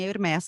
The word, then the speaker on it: Hermès: exato é nome próprio A grande maioria dos nomes próprios que terminam com s tem são pronunciados assim hermés que vem uma empresa